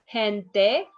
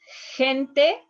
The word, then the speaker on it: gente: It's a little bit like the H. That's why one of the students told me, I think sometimes you pronounce a little bit more like an H, sometimes a little bit stronger. If you pick one, doesn't matter. As soon as you pronounce this softer than the G, you are going to be fine.